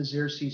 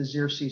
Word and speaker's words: Xerces: few of you who don't know what the zirsi society is and that's how it is pronounced the zirsi society we're named after the first butterfly known